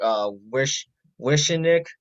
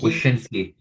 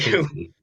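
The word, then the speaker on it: Wyshynski: The source for this was Greg Wishenik, Wishenik, Shicky. Wyszynski. Thank you. Wyszynski.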